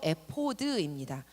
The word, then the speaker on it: 에봇: 에봇. 히브리어로 에포드입니다. 히브리어 발음을 그대로 한국어로 이제 직역을 해놓은 겁니다.